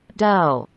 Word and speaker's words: dough: Dough. Dough. Love. Love. Dough. Tak. Dough. Tuh. Tuh. Bacanya tuh. Benar kan? Tuh. Betul kan? Tuh. Dog. Do kan. Bacanya do. Nggak pakai do. Nggak pakai H, tapi do.